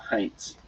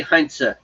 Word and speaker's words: Heinze: These are just like a few various stories about Heinz. Okay. Or Heinze. It really would be Heinze because there's no silent E in German.